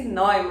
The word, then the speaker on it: Neumann: Neumann, hoje aqui, é assim que pronuncia o teu sobrenome? Justamente. Olha só!